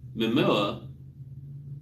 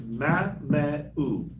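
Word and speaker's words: Mamaea: It's Mameu. Mameu. That's how you pronounce it. It's weird. I know. Mameu. Mameu. The EA makes a U sound.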